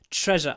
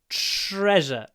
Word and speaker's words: treasure: we're looking for treasure treasure I like this word because uh the way we pronounce it is nothing like uh the way it's written treasure it has a sh sound and a z sound treasure treasure your tongue